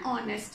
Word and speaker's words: honest: using and why because h is silent here okay when we pronounce an honest man and our ago